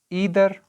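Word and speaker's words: either: नीदर और नॉर, इसको आइदर भी बोला जाता है, इसको नाइदर भी आप प्रोनाउंस कर सकते हो।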